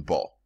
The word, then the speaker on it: Baal: Officially, he's called Baal. That's the exact pronunciation, Baal.